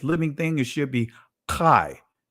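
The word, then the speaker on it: חי: It should be, when it says living thing, it should be Kai, right?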